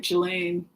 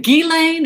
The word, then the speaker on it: Ghislaine: People want me to look at Ghislaine. Is it Ghislaine? Is it Ghislaine? I can't. I thought it was a soft G. Oh, Ghislaine?